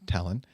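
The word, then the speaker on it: Tallinn: language the stress is placed on the first syllable of words meaning that in the name talon the emphasis is on the beginning of the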